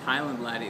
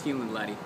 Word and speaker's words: Hieland Laddie: book you will find heland latty it's not pronounced Highland latty it's pronounced heand lty how do I know Tommy make that's how